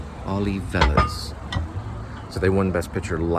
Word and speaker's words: Olivella's: It's pronounced Olivella's.